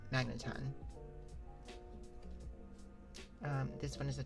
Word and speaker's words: Magneton: That one I am pronouncing right. Magneton.